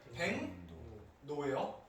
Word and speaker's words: 백로: 일단 발음은 백노예요.